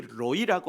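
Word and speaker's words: רֳאִי: 뒤에 있는 로이 이걸 먼저 보면 이 로이라고 하는 단어는 히브리어 라아라고 하는 단어가 목적격 조사 이라고 하는 나를 가리키는 목적격 히브리어 목적격 조사 이를 붙이는데 그 붙으면서 발음이 변형이 일어난 거예요. 로이 이렇게.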